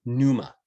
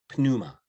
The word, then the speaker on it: pneuma: greek it would be p-n-e-u-m-a numa pnuma numa okay pneumonia pneumocystic something